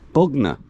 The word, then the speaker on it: Bogna: Bogna. Like the place in West Sussex, East Sussex, wherever it is.